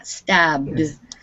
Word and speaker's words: stabbed: the second column yeah stabbed dude it ends up with a d sound not a t sound stop i'm sorry i